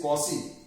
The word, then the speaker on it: Cauchy: as Cauchy, actually Cauchy Some will pronunciate this as Cauchy. You may call it in any way, whatever you like. But real sense of speaking this is Cauchy.